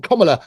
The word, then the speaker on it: Kamala: And to anybody on Kamala, that's how you pronounce her name, Kamala Harris's party, come forward and confess if that's the truth.